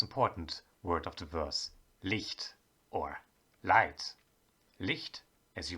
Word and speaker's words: Licht: have the most important word of the verse leaked or light leaked as you might have already